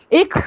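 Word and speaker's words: ich: अभी ये जो इश है ना, इसका प्रोनाउंसिएशन कुछ लोग इख भी करते हैं. इख हाइस और इश हाइस बोथ आर करेक्ट.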